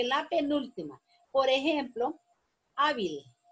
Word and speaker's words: hábil: Por ejemplo, hábil. Hábil, miren. La sílaba tónica está en A. Y como termina en L, yo tengo que ponerle tilde a la A.